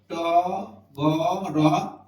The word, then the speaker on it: টগর: এখানে অ ধ্বনি আছে পাশাপাশি তিনটা বর্ণে অ থাকলে মাঝখানে অ হয়ে যায় তাহলে কি হইলো ট গ র টগর যদি আমরা বলি স্বদেশ